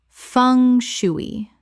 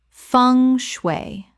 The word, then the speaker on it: feng shui: Common mispronunciation, fung shoo-ee. Correct pronunciation, feng shway. Two syllables, the end sounds like ung and the shwi sounds like shway.